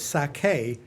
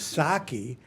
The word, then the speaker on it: sake: Uh we just had a I just found out that the way that you pronounce it is sake. I always thought it was saki, but we just